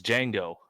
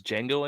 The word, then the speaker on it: Django: ] up so it's Django its Django and Schuyler said the Django Unchained it's a did Django its Django he just said no-good Django it's obviously the D is silent I call it the